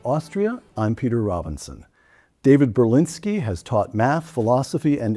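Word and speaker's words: Berlinski: David Berinsky has taught math, philosophy, and English at universities including Stanford, Rutgers, the City University of New York, and the Univers.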